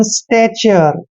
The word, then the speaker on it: stature: Next है STATURE, इसको पढ़ते हैं हम स्टैचर, स्टैचर, ठीक है ना।